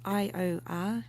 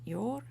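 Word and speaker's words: Iordanis: So it's I-O-R, we pronounce it Yor, or you could say Ior, which is almost the same.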